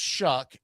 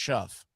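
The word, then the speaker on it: Shough: I don't know why, but his name is pronounced Shuck, even though there's no CK in his name. Um, but Tyler Shuck. The whole time he was in college, it was pronounced Shuff, and now it's Shuck.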